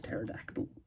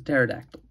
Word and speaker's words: pterodactyl: I think the P is silent. It's just a pterodactyl. That's what it is. A pterodactyl.